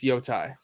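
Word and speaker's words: Yōtei: It's Yotai. I didn't. Ooh, Yotai?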